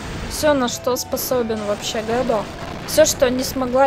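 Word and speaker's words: Gado: Хотя по-английски он произносит как-то гадо. Но я читаю, как написано. Так. Поскольку у нас одинаковые бойцы, одинаковые атаки, сейчас, я думаю, он продемонстрирует все, на что способен вообще Гэдо.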